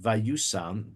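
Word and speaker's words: וישם: Says Bal haTurim, the word vayisam, which is spelled, it's pronounced vayusam, but according to the Masoretic tradition, it's written vayisam, hints to the fact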